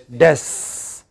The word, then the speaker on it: destiny: But one of these syllables, there are three syllables here, one of these syllables is most prominently stressed. What syllable is that? Des. So how do we pronounce it? Des.